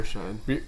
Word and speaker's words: Bierscheid: Bierscheid.